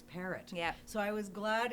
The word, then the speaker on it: Perrault: But I thought, there's no way in Edmonton that's how they pronounce, and sure enough, it's parrot.